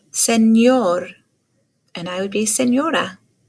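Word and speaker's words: señor: the letter n enchiladas makes the same sound as when we say kanyen so this is a word senor and i would be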